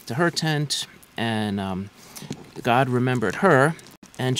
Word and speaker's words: Gad: sorry they named him gad and the hebrew pronunciations are a little different it's actually god in hebrew a lot of these